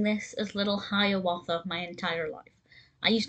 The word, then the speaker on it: Hiawatha: the disney short and they pronounced it little hero author so i'm going to try my best to pronounce it such throughout the rest of this but i do apologize if i do occasionally pronounce it hiawatha instead of hearwatha little herewatha is a